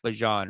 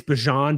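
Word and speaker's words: Bijan: You guys saw that Bjon said his name is pronounced Bjon, right? Yeah. The problem is is I I I saw him say it's Bjon, but it's like the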